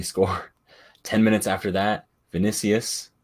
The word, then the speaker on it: Vinícius: 10 minutes after that vinícius that's how it's pronounced if anyone has any doubts not initially not vicious yes yes it's vinícius like the Real Madrid winger scores a header somehow